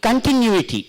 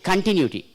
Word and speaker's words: continuity: can can you itty continuity where it should be stress third syllables for the last can can you a t continuity continuity see the third syllable from the last it by words third syllable from the last from there one two three third syllable should be stressed okay so this is